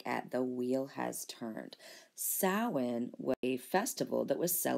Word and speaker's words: Samhain: looks like it's called Samhain it is not it is actually pronounced saawan this is in the Celtic language so do not expect the letters you see to sound like the phonemes that you here okay